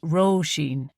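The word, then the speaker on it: Róisín: Anyway, her name is Roshene, pronounced Roshene. Yes, it's one of those Irish names.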